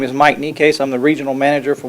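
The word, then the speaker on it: Necaise: My name is Mike Necase. I'm the Regional Manager for Water Company of America. Could you spell that name? Necase, N-E-C-A-I-S-E.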